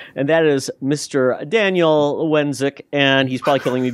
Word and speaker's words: Walendzik: oh hello Wally here AKA Daniel wenck is how you pronounce the last name yes I am Polish